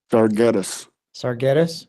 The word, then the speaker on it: Sargetis: me on your last name how do I pronounce that darus sarus okay thank you or James Steven sarus um